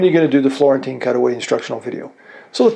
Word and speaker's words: Florentine: years ago how to remember Florentine it rhymes with the word guillotine which is you're going to